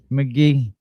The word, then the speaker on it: Magee: You know, that's my nickname, McGee, but it's spelled Magee.